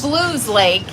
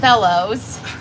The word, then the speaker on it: Belews Lake: in Bell excuse me it's called Blues Lake but it's spelled Bellows um we actually found